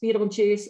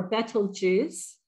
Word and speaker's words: Betelgeuse: armpit of Orion and it's typically pronounced Beetlejuice or betel juice um I'm going to